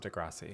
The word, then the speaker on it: Degrassi: cast of Degrassi it was the cast of Degrassi yeah yeah did I say it wrong no